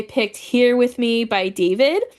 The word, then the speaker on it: D4vid: Then I picked Sino and Tignari, and I picked Here With Me by David, but spelled with a 4. It's D4 vid.